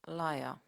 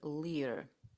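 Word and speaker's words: lyre: about a musical instrument which in Greek is pronounced lra and in English liia for some reason my mind landed somewhere in between and I kept repeating Lear in some languages this might be the right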